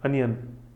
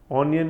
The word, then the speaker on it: onion: फिर अपन देखते हैं प्याज, अनियन, ऑनियन नहीं बोलते हैं, अनियन है, अनियन, स्पेलिंग है ONION, ओनियन नहीं बोलते हैं इसको, अनियन, ठीक है।